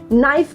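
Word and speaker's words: knife: does this rule से यह rule यह बोलता है कि जब भी कोई वर्ड के एंड एन से शुरू होता है राइट तो उसमें हमेशा जो लेटर के होता है वो साइलेंट होता है क्या आप सोच सकते हैं किसी वर्ड के बारे में जो के एन से शुरू होता हो नाइफ के अलावा नॉलेज के अलावा वेरी वेल डन देर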